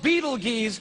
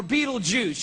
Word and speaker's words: Betelgeuse: It's called Betelgeuse or Betelgeuse. You can pick your pronunciation. I'm obviously going with Betelgeuse.